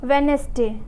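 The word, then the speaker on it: Wednesday: जी आता है तो, या डी और एन जब साथ साथ आते हैं तो वहाँ डी हम लोग का साइलेंट होता है।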